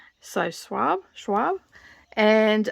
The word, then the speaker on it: Schwab: published in 2020 it is by v e schwab and that is spelled s c h w a b so suave schwab and it's science fiction fantasy okay it's